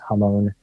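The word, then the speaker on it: Ramón: Um but I do know that um also Ramon uh or sorry the pronunciation in Portuguese is Hone.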